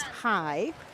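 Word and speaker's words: haai: So shark in Dutch is hi. H-A-A-I, hi.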